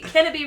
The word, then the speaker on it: Kennebec: In August 1607, the Plymouth Company landed about 100 men at Sagadahoc on the Kennebec Kenneby River. Yeah, the Kennebec. What's that? So that's C silent, huh? So, Kennebec.